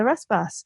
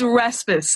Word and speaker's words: Rasmus: How do I say it? There's many versions of my name, so I'm not so nice the way it's pronounced. It's Rasmus. It's like, I'm going to